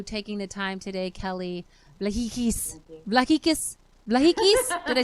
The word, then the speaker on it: Vlahakis: We appreciate you taking the time today, Kelly Vlahakis. Vlahakis? Vlahakis? Did I say it right? Vlahakis, which means Vlahakis.